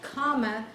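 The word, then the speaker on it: Coma: first smaller constellation is called comma that is spelled c-o-m-a you just leave out one of the m's and comma is the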